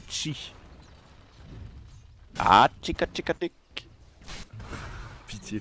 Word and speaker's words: Xi: Ça s'écrit XI et ça se dit Chi.